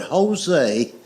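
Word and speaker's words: José: The word Jose is Jose, but it's pronounced with an H.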